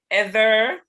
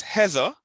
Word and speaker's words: Heather: Heather, Howard, and Fred. Heather. Okay. Heather. No, it's not. ER is pronounced like doctor. Oh, okay. It's a schwa.